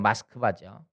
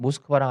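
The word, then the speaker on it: Москва: 어 지금은 인제 모스크바라는데 원래는 마스크바죠. 러시아 말로는 마스크바입니다. 그걸 영어 발음으로 하니까 모스크바라고 하는 거거든요. 근데 러시아 사람은 모스크바라고 하지 않아요. 마스크바라고 그래요. 원래 그 스펠이 그렇거든요. 마스크바인데 여기에 인제 아까끼의 빛이라고 하는 아 사람이 살고 있어요.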